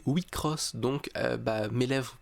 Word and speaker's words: WIXOSS: petit 10 km heure le jeu ne se prononce pas weeks hausse mais oui cross donc bas mes lèvres